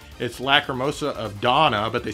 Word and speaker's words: Dana: It's Lacrimosa of Donna, but they spell it Dana.